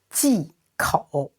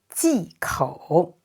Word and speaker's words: 忌口: And this letter G is pronounced ji. So the folding tone, ji. And OU is pronounced O. So third tone, 口. 忌口.